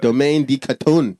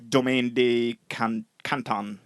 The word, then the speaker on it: Domaine de Canton: not very, yeah, that's the part I can pronounce, French ginger liquor. Say it in a French accent. Liqueur. Le Domaine. Liqueur. Domaine de Canton. Yes, Domaine de Canton.